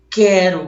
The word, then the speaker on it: quero: Ele só quando o U não for pronunciado que vai formar um dígrafo. Então, quero, pessoal, quero.